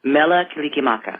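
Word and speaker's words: Mele Kalikimaka: Mela Kilikimaka.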